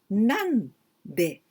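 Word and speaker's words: 何で: Nan de. Do you remember nan or nani? That means what? But here with de, we pronounce nan.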